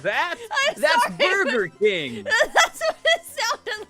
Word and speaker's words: Burger King: Sonic, you're going to have to make really sure that you pronounce Burger King with the R in there because it sounded like you just said Booger King.